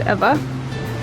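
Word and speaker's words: Ewa: It's spelled E-W-A, but you pronounce it Eva.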